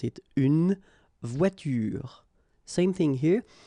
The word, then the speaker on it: voiture: But then you don't insist on it, so clearly you don't pronounce it une voiture. Same thing here. The last thing that you will hear is this r, voiture, voiture.